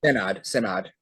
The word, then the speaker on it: Synod: Um, so I guess staying within that topic, you had mentioned the Senate of Jamnia. Is that am I pronouncing that right? Synod.